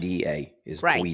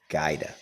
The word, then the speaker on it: Guida: Guida that is the original, mm-hmm. and they changed it to Gaida. Gaida. That's what he told me at the reunion.